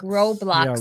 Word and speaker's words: Roblox: Roadblocks or Hey, Serena. Roadblocks. Like a road row. Like Roblox. R O B L O X. Oh, like Row row your boat.